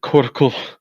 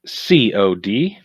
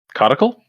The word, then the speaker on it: codicil: If I am saying it incorrectly, please correct me. It is CODICIL. Codical? Codical? Codical? Or what was it? CAL or COL? CODICIL. No, Isn't it yeah. codicil? No, I think codical. It sounded like you were saying cortical, like Oh, yeah.